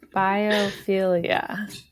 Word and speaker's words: biophilia: Maggie, do you want to, or should I try to pronounce this word? Biophilia.